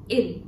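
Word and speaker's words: ils: be masculine which is ill in S is silent now the next one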